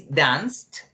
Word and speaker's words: danced: When finishing P, in K, in SH, in CH, in GH, in TH, in SS, in C, or in X, you have to pronounce it like a T, okay?